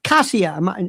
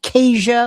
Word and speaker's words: Kasia: Um first of all, uh Kasia, not not not Kesha, like Asia. Look, Polish people would say Kasia, so you need to smile to say my name, Kasia.